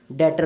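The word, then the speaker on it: debtor: victim point हमारा है बैटर ticket बीबी टीओआर यहां पर 20 साइलेंट होता है इसको कुछ लोग चैप्टर पड़ते हैं जो कि गलत है बैटर होता है और डेट क्या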